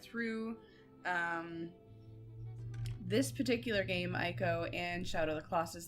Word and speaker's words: ICO: to be doing um eeko first some people like to argue with me about the pronunciation of that um for me it's always been IO so we're going to